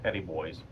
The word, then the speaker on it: Petit Bois: Well, we're here, and we are at, it's Petit Bois is the way it's spelled, but everybody in Mississippi calls it Petit Boys.